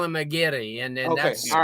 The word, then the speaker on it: Aguirre: Aguirre, and everyone just called him Aguirre. I'm like, but we've evolved as a society. This kid's name is Aguirre. We're not calling him Aguirre. It's Aguirre, bro. It's Aguirre. Raul Aguirre. I'm gonna say it like that, like a true Cuban says it.